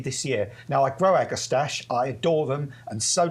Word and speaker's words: agastache: Well, some people say agastaches, I say agastache.